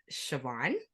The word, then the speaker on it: Siobhan: those who don't know me my name is pronounced Siobhan I am a mom of one I'm a